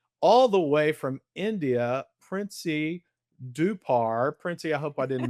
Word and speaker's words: Princy Dhupar: friend and colleague all the way from India, Princy Dupar. Princy, I hope I didn't mess your name. No, you pronounced it really well, Kevin.